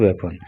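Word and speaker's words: weapon: देखिए इसका pronunciation वेपन होता है, बीपन नहीं होता है, वेपन होता है, ठीक है, इसको आप वेपन बोला कीजिए।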